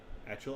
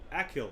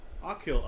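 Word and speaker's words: Achill: working on the mountain actual island nope akhil i knew it ah kill akhil island is the largest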